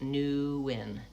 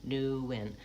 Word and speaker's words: Nguyen: But you might tell people your name is spelled, or your name is pronounced Nguyen, Nguyen. then I can visualize the word new and the word win, and I'm going to